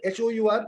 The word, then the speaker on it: hour: HOUR. Yeah, we already said that. HOUR is pronounced as R, and hence I will meet you in an R.